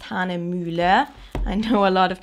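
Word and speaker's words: Hahnemühle: which is a German brand so it is pronounced Han muler I know a lot of people can't uh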